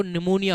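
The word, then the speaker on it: pneumonia: यह क्या है जी इसमें भी पी साइलेंट है बेटा अब देखो हम बोलने लगते हैं सर उसको तो बच्चों को निमोनिया हो रहा है और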